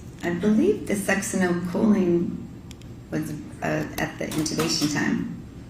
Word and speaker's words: succinylcholine: And so, if the, butcher the pronunciation, you pronounce it. Succinylcholine.